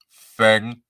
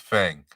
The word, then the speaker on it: Feng: This is pronounced Feng. It's pronounced Feng.